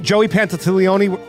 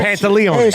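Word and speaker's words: Pantoliano: Do you remember the one with Joey Pantatileone? Oh, sorry. Whoa. Pantalones?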